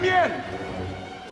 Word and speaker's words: mien: he says c'est le mien. I actually think he pronounces the N in mien because it is spelled with an N, but as you know, French has a lot of silent letters.